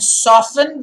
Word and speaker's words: soften: up a tent and softened the floor guys it's softened okay soften the tea remember silent soften the floor with